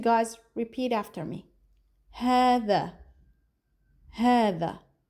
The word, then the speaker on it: هذا: هذا. Not ha. هذا. So, هذا is an expression used to point at masculine nouns.